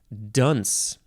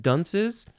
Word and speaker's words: Duns: do we call them Dunces well it's from John Dunn's scotus and duns is d-u-n-s could have been pronounced dunce spelled differently though so John dunce